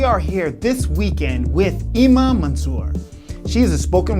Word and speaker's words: Eema: Eema, right? Eema. See, I was saying it wrong. Eema.